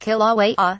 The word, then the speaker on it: Kilauea: Kilauea, pronounced Kilauea, one of the world's most active volcanoes, has been erupting continuously since 1983.